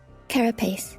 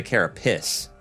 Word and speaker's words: carapace: a turtle same thing carapace carapace I was going to say cariss but it's carace